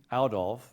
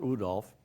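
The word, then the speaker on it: Oudolf: do you say that out of is Dutch Rudolf is German if you say out off or oh Dolph Pete will not correct you and it's Pete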